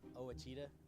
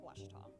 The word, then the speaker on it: Ouachita: I've heard people say oh a cheetah oh Wichita oh a cheetah is it pronounced oh Akita soon for Washington Baptist University back in Texas everybody pronounces it Wichita but really it's Ouachita Washington how would you